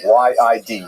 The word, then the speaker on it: Yid: So that's a Lithuanian pronunciation, Y-I-D, Yid.